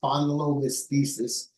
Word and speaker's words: spondylolisthesis: It's it's spondylothesis and it's a condition characterized by the forward